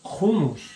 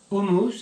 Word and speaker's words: hummus: In Israel, I think they pronounce it hummus, so I love this pronunciation, and I'm saying, all my friends say hummus, and I say hummus. Say, oh, it's wrong. Say, no, in Israel they say it like that, they pronounce it like that.